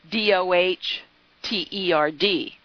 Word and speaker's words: dotard: I think I said dotard, but it is dotard, and I mean it's DOHTERD. That's not how it's spelled, but that's how it's pronounced.